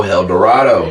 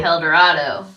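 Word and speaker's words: Helldorado: Dorado and if you don't know how to spell it h e l l d o r a d o hel Dorado hel Dorado yep get your uh El Dorado hel Dorado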